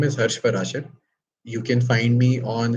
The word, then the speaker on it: Parashar: Uh so my name is Hush Paraser. You can find me on Instagram with hers_parasher_. Paraser is spelled with P A R A S H A R.